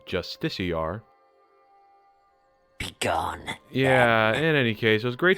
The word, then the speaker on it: Justiciar: their wrists with every Justica I slay on the road below. Not to be granular, but I believe it's pronounced Justiciar.